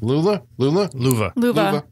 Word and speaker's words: Luva: He meets a woman who is the resurrection of his long lost love, Luva. Like lover. Spelled like lover.